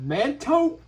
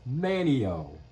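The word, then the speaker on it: Manteo: Did he just pronounce that Manto? Yo, that's pronounced Manio. Not whatever you just said.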